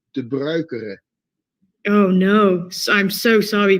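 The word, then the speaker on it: Pedro De Bruyckere: his name wrong, Pedro de Bruquier. No, that's completely wrong. Pedro. Oh, okay. Is, as in the Spanish way, and his last name is de Bruikere.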